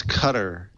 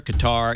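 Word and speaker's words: Qatar: you look it up you can pronounce it either way all right it's cutter cutter qar either one fine and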